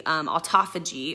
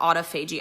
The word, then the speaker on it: autophagy: that your body is doing Auto Fuji or autophagy I've heard it pronounced both ways and I'm not even gonna pick a camp but basically where when